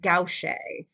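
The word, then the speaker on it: gouache: addition of chalk and this is called gaucher is how this is pronounced or one of the ways you can pronounce it so there's that awesome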